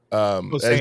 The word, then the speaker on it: Posehn: Posehn.